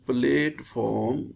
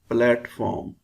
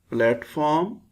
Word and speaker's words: platform: on the platform times we pronounce it as plateform that is wrong it's correct PR pronunciation is platform platform passenger platform passenger platform